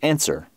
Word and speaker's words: answer: square is related to answer which of course people often like why does answer have a W in it that's dumb and it probably is dumb given that we don't actually pronounce the W but it's not the